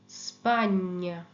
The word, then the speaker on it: Spagna: যেমন GNO, GNO, GNO, GNA, GN এর সাউন্ডটা হয় ঞ। এটা একটা যেন দন্তন্যটা একেবারে তালুর সাথে লাগিয়ে কিছুক্ষণ তারপর এটা ছাড়তে হবে, নিয়ম। ওকে, নিয়ম, gnocchi, gnocchi, legno, legno, Spagna, lavagna, gnomo, gnocchi, legno, Spagna, lavagna।